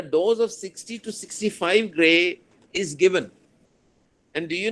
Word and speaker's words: gray: the doors this g how do you pronounce that grey right so a dose of 60 to 65 grey is given and do